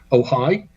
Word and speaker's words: Ojai: That's in California on the 15th of July at Libya Bowl in, I think it's pronounced Ojai.